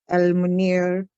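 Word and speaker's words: المنير: Al-Munir. Jazakillah. So Alif will take Fatha because next letter is Lam.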